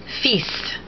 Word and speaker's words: fils: Fils, son. The S in fils is pronounced to differentiate it from fil, meaning wires. And also probably because it is taken from Latin filius.